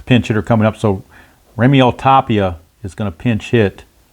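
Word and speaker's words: Raimel Tapia: I think it's pronounced Remiel Tapia is the pinch hitter against the new pitcher Howie Guerra.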